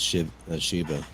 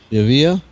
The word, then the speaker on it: Shiva: It's only two syllables. It's five letters. Like one of the oldest names in the world. 2 syllables. And the thing is, when they mispronounce it, they make it more complicated.